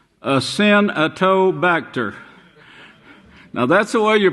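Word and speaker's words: Acinetobacter: bacteria in US hospitals called get this name ass in a toe bacter now that's the way you pronounce it but you pronounce it bastard ass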